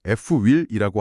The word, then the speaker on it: FWIL: 알파벳으로 F, W, I, L인데요. 발음은 자연스럽게 F-WHEEL이라고 하시면 됩니다.